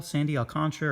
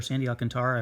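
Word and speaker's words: Alcántara: got that refractor look purple sandy alcantara or sandy alcantara i've heard it pronounced both ways not with the cardinals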